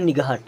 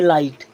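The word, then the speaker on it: light: मैंने पूछा क्या लिखा है तोव बोलता है निगाह क्योंकि उसने बाराखड़ी की स्पेलिंग अच्छे से पढ़ी है अब देखिए इसको प्रॉपर उच्चारण होता वो क्या करेंगे अब एल आई जी एच टी इसे पढ़ेंगे लाइट लाइट मीस होता है प्रकाश और हल्का भी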